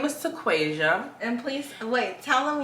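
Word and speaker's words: Taquasia: went to an event and my name is tequasia and please wait tell them you're Tick Tock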